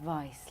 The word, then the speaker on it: Weisz: It's actually pronounced vice, like the opposite Weisz.